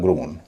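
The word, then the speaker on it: grown: एन लगने पर उसका उच्चारण होगा ग्रोन।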